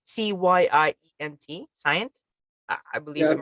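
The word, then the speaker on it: Cyient: uh simulation and uh at how do you pronounce the company it's c-y-i-e-n-t science I believe it right that's science yes thank you and uh here's a M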